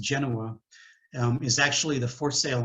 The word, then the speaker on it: Genoa: nautically themed brand so um the genoa it's pronounced genoa is actually the for sale on the sailboat